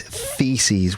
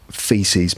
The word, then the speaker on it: theses: That you write a thesis, and the plural of thesis is theses with a th sound at the beginning. That's not feces, meaning poo.